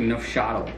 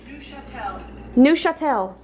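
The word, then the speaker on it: Neufchâtel: Can you look up how to pronounce it once and for all? Yes, I think it's like nofchadl. Nofchadl? It looks like a package of cream cheese, but it's like lower fat. Neuchâtel.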